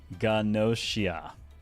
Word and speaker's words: Gnosia: Everything about English says to me it's Nosia because nosis in similar words, right? The GN start. However, the actual katakana is very clearly ganosia.